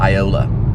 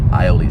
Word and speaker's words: aioli: lay down um uh it's gonna be like an iola or aioli aioli is how you say it aioli which is basically